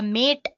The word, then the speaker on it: MATE: As you can see, the machine boots you into the mate desktop environment. Let me pronounce it mat. You can call it whatever you want.